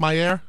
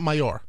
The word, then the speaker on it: Mayer: Mayer yes there go that's how you pronounce it Mayer yes not mayor no I'm sorry for the